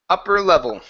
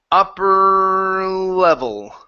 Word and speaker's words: upper level: instead of upper upper upper level I put a pourable hmm ok so let's say let's control the r into the L so try this with